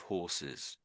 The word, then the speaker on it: horses: Most of the time we pronounce the H when it's at the very first letter most of the time.